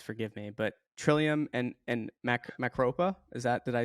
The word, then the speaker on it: Macropa: But Trillium and Macropa, did I say it right? Perfect. We accept all pronunciations of that.